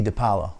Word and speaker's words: DePaola: It's spelled with an A. DePaola is pronounced with an O. I still don't really know, but my name is DePaola, and it's spelled with